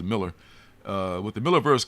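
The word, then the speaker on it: Millar: you call him Miller I want to say milara but he calls pronounced as a Miller uh with the Miller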